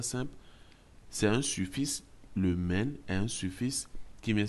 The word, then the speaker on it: 们: Ici, nous avons un suffixe, le suffixe men. Ça s'écrit M-E-N, ça se lit men. Men. Il n'y a pas de ton dessus.